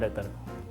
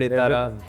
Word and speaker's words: Ettarra: It's pronounced as Yettara. And what are the versions that you've heard? We heard Ettara, we heard Ittara, Juttara, Juttara.